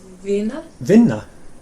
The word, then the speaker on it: vinna: And just like with finna, you kind of say the n for quite a long time.